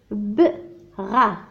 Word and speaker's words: bras: La tire par les bras. Le S هنا حرف صامت.